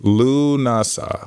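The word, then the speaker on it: Lughnasadh: It's Celtic, so it could be completely different than what it looks like. Let's see how how do we pronounce this? It is pronounced Lunasa.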